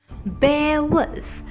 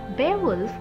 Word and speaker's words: Beowulf: our channel do subscribe it for lit content bear wolf remember the pronunciation inside we imparted yes pebbles is today's